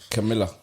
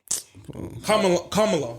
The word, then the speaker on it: Kamala: Camilla. Kamala is actually how her name is pronounced.